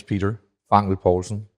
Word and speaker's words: Peter Fangel Poulsen: Yes, my name is Peter Fangel Poulsen. That is the Danish pronunciation, so that's pretty close.